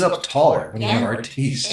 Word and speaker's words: Artis: right, so for the Faith in Life podcast today, we have, Artis. Yay! Yay! let me first question. How many times have you heard Artist? Oh, a lot.